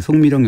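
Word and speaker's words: 宋美齡: 당시 그 국민당 장제석 주석의 부인인 쑥메이링이라고 하는데 우리 발음은 송미령이라고 하죠. 예. 송미령 여사가 미국 그 뉴욕 브롱크스 동물원에 판다 한 쌍을 기증하면서 시작됐다고 합니다.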